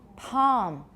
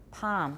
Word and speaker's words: palm: it normally is palm do you hear an L or not listen palm she an almond palm almond you're not so sure of ubian what are you here there's a little L sound and this also made